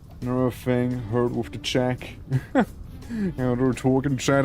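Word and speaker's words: Czech: You you spell it like check as in like checking something. It's like CZ E uh C H. Check.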